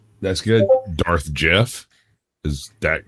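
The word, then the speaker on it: Geoff: The other one pronounced it to be different. Yeah. Yeah. So, my parents uh named me Jeff.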